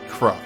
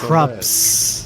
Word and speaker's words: Krups: No M, right. Krupp. Krupp just needs to learn that fire is good against Krups. undead. Krupp. No M, yes S.